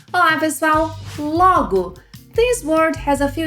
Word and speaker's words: logo: It's logo, logo with an open O sound, logo. If you make a closed O sound, logo, logo, you will be saying a complete different word.